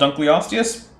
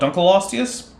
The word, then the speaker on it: Dunkleosteus: i'll correct you is don't skip consonants don't skip vowels give them a reasonable pronunciation in each case and then i'm just not going to care you want to call it dunkley osteous okay you want to call it dunkleosteus okay you want to call